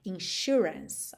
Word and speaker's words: insurance: E atenção à pronúncia, shu. Esse S aí vai ter um som de X, certo? Ou de SH, insurance, ok?